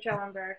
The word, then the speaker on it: Schoenberg: on this by producing, I believe it's the Schoenberg, is that how you pronounce it? Rachel, fellowship. Correct, for Schoenberg, yep.